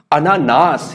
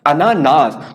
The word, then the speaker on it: अनानास: तो यह भी कई बार पूछा गया है अनानास, और इसका जो शुद्ध शब्द होता है वो होता है अनानास। क्या होता है? अनानास। तो उच्चारण आपको सही करना है, इससे आप इसे आसानी से शुद्ध भी लिख सकते हैं।